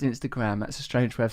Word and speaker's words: Instagram: I'm with you on the emphasis on the last syllable of Instagram.